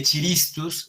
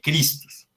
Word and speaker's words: Christus: Y el nombre de Cristo, de nuestro Señor, del ungido, no se lee Chiristus, sino que se lee Christus.